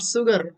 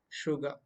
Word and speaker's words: sugar: set of words sugr it's not sugar i have heard some of the north indians uttering this word as sugar though the letter is s here it is okay sugar okay when you complete